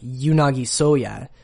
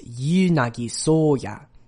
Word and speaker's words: Yuunagi Soya: it's not really like yunagi soya it's yuunagi soya each of the names gets three beats even though it's two syllables so the u is